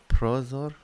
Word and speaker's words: prozor: So Prozor? prozor. Right? So accent that first syllable.